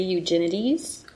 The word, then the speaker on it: Eugenides: Okay, so our pick for February is Middlesex by Jeffrey Eugenides.